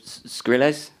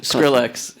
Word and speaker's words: Skrillex: but the music is is a combination of scres is that close close enough Skrillex okay Skrillex I just wanted to make sure